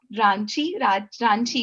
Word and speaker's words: Ranchi: Did you have a chance to go to Ranchi, if I'm pronouncing it Yeah.